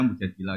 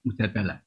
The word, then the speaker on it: Mujadilah: Yang benar itu bacanya mujadilah yang level A. Tapi umumnya orang baca apa? Mujadalah. Itu karena ceritanya itu perempuan penggugat.